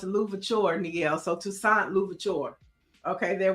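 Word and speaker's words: Louverture: Mike V says it's pronounced Louvore.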